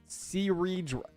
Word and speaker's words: Cerydra: Do you not see the R in her name? What, cerydra? I'm legit pronouncing the R. Cerydra. Cerydra?